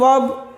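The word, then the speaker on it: were: उसके बाद जो WER कुछ लोग वेयर पढ़ता है उसका प्रोनाउंसिएशन वर होता है।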